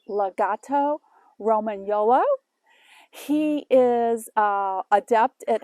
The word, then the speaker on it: Lagotto Romagnolo: a italian water dog it is pronounced a legato roman yolo he is uh adept